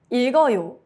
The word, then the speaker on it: 읽어요: Examples: 읽어요, read. 리을 stays. 기역 moves to the next syllable.